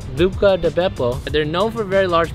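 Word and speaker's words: Buca di Beppo: buca hey yeah so apparently according to trevor i pronounced bucca de pepe wrong buco buca de beppo they're known for very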